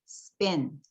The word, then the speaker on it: spin: 발음하셔야 되는데 앞에 이렇게 S가 붙어서 두 번째 자음으로 등장할 때는 스펜이 아니고 스펜. 우리식으로 하면 쌍비읍. 또 stick 이것도 쌍디읒. skin 쌍기읍 발음이에요. 그래서 어때요? spin, stick, skin 이렇게 발음하셔야 돼요.